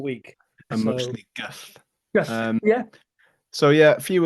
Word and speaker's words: Gull: So when their main beer is called Gull, Gull, but it's pronounced Gullt.